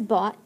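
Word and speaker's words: bought: spelled number five is bot it's like the word thought so if you can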